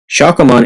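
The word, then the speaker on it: Shakkoumon: The Play brothers all have number 160, Shakomon. Yes, Shakomon is the official pronunciation.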